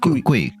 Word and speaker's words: Gui: You said it's not Gui. Gui. Gui like koi. Gui Fei. Like a koi fish.